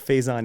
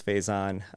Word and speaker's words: Faizan: I get all of these, but Faizan is the pronunciation that kind of stuck with me when I moved here. I still think I've known Faizan for a few years